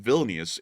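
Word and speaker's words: Vilnius: in the video please make sure to put villus in the comment section below that is the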